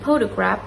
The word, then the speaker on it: photograph: For example, in photograph we emphasize the first syllables while in photography we emphasize the second syllables.